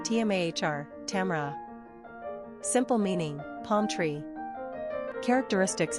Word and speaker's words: Tamara: Pronunciation, Tmar, Tamara.